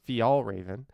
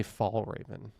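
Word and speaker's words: Fjällräven: word oh it's all one word it's actually pronounced fial Raven but a lot of people just say fall Raven I don't know thank you so much for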